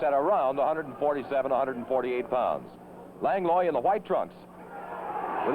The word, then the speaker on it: Langlois: Langlois in the white trunks. Langlois prefers that pronunciation of his name.